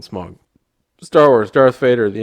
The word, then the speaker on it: Smaug: the rings sauron hobbit smog i'm sorry smaug i don't like that pronunciation so i'm gonna call it smug star wars darth vader